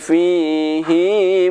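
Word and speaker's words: فيه: Akan tetapi ada satu kata fihi di dalam Al-Quran ini yang mana bacaan hi harus dibaca panjang, yaitu terdapat pada surat Al-Furqan ayat 69 yang berbunyi wa yakhlud fihi muhana wa yakhlud fihi muhana.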